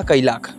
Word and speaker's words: Kylaq: इस गाड़ी का जो नाम होगा वो होगा कैलाख, जिसका स्पेलिंग आप लोग अपने स्क्रीन के ऊपर फिलहाल देख रहे हैं।